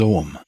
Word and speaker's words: Ogham: In Druidry, there's an alphabet known as Ogham, that's spelled O-G-H-A-M.